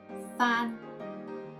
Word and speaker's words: Phan: So the vowel here is A with the N final consonant. Together we got An. And PH, F. Together is Phan.